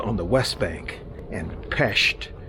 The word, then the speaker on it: Pest: the West Bank and PES as native hungarians pronounce it on the east side